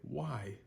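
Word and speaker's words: wai: w sound why so U AI is pronounced like why like oh why do we have to go there it said like the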